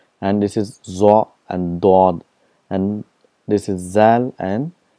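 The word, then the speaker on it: ض: For example, for zwad, in Urdu it's called zwad, but in Arabic it's called dod. There's a lot of difference between zwad and dod.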